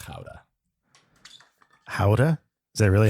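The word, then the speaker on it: Gouda: that way it's like when uh people order guda it's pronounced Howa Howa is that really how you say it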